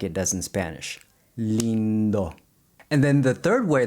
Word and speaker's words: lindo: Let's take a look at another word, lindo, beautiful. When I say the lin in lindo, my tongue never touches the roof of the mouth like it does in Spanish. Lindo.